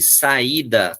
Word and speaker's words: saída: Aí o hiato é quando eu me obrigo a fazer a ruptura desses sons. Então, eu tenho aqui saída, moeda, país. Eu me forço a fazer uma ruptura.